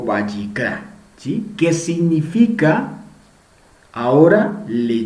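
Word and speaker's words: ויקרא: Levítico, cómo se llama, cómo se dice en hebreo, y aquí sabemos lo que anteriormente se llamaba como Torá Kohanim, ¿sí? Sacerdotes, instrucciones para sacerdotes, y hoy en hebreo lo conocemos como Vayikra, ¿sí?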